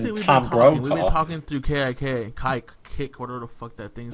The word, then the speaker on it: Kick: talking through Kick, whatever the fuck that thing's Whoa, easy with that first pronunciation. Kike. It is not pronounced that way. It is certainly pronounced kick.